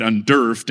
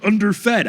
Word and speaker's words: underfed: the episode of Potterless, I mispronounced this word and said undurfed, and Googled it and still called it undurfed. And then a bunch of people are like, "Oh, Mike missed a joke to say underfed."